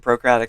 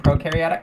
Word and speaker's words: prokaryotic: we're relatively close i'm on like ukratic and procratic cells right now nerds eukaryotic and prokaryotic yeah that's how they're pronounced i don't either i